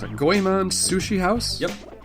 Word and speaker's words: Goemon: Goemon Sushi House? Yep. My Japanese is not very good. I apologize. Goemon Sushi House. That's Goyemon.